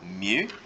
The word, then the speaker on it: mu: This one right here, which is pronounced as mu. That's pronounced as mu, which is the same one as you see as micro.